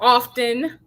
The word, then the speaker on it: often: i say often too now i read in on somewhere where it was never often it was often the t was silent and i mean if